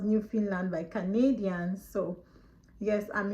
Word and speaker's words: Newfoundland: Some people call it Newfoundland, but it's actually pronounced Newfoundland by Canadians.